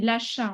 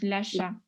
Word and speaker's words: l'achat: Voilà, c'est l'achat. On ne prononce pas le T. Donc, l'achat.